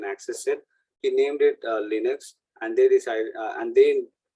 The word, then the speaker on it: Linux: Don't call it Linux or Linux or Linux. Linux. But you'll hear based on which people you are interacting with, you'll hear a different variation of the pronunciation.